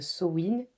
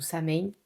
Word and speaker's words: Samhain: Donc c'est comme un nouvel an des sorcières qui s'appelle Samhain ou Samhain, ça dépend D'accord. comment on le prononce, on peut prononcer les deux.